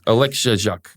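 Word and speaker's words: Oleksiejczuk: Oleksiak.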